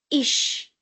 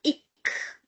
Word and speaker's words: ich: Because before ch we have I, so sh sound.